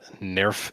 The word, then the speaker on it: NERV: of Avon gelon uh Nerf is apparently the German pronunciation of the word and so especially in Netflix sometimes they're going to be saying nerve sometimes they're going to be saying Nerf who knows what's right uh when you first